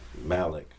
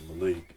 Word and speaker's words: Malik: When I was young, teachers would always mispronounce my name and see it, read Malik. Okay. Malik. When it's really Malik.